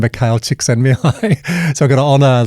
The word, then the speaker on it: Csikszentmihalyi: Did I get the pronunciation correct? I'm a bit nervous. I think you did a great job. Csikszentmihalyi.